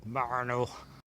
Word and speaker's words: Marnhull: So I'm in the village of, it's spelt Marnhull, but I used to have a girl from this village and she insisted it was called Marnhull.